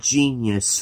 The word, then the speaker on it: Jenius: are looking at myleene genius from from macross i know it sounds like genius but it almost sounds like it but it's spelled with the j instead of a g there's the there's the